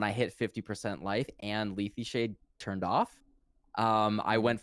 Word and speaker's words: Lethe Shade: it the right way, but I hate this pronunciation. Lethe Shade.